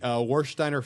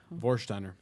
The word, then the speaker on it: Warsteiner: popping a boner over it, It's guys, going just to so be Warsteiner Fest beer.